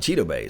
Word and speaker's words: Chidobe: He pronounced it Chidobe, so however you Yeah, guys want to call his name.